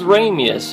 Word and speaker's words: Raimais: This is Raimais or however you pronounce it. It's actually a Japanese game. It's Raimais.